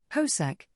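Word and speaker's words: Hosack: hosak pronounced horse ick is not a household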